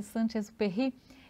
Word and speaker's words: Saint-Exupéry: É assim que pronuncia? Sim, Exupéry. É Saint-Exupéry.